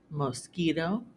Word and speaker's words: mosquito: However, the Q can also sound like k in words that come from Latin. For example, bouquet, mosquito, plaque, antique, and boutique.